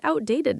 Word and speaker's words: outdated: You're so close. Just add a d sound at the end.